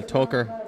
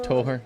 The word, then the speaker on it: Toher: Well, Toker has always been pronounced Toher, so regular screw up.